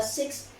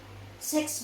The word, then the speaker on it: six: someone asked asked him six battles or six battles but instead among a man pronounced it as uh sex battles which is incorrect right i might actually